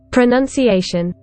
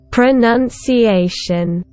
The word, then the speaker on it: pronunciation: let's see where the syllable stress is in pronunciation pronunciation pronunciation the first and the strongest stress is on a and the second and the softer stress is on none pronunciation so there you go guys you have learned